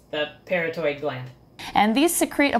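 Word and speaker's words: parotoid: their eye is a poison gland called a parrotin gland and by the way as i'm editing and doing further research i am now realizing this gland is called a peritoid gland not a parrotin gland so ignore me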